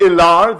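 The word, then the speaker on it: Helaire: Lakehurst had some standouts, like DeAndre Very Swift, who scored 25 points, Clyde Edward Ilar, the H is silent peasants, who managed a paltry 20.9 on the board.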